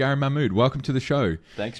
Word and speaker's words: Mahmoud: thanks for having me I'll just give you the Americanized version obviously Gary and Lee everybody can pronounce just go with mmud there there's a much more Arabic way to pronounce it but why bother who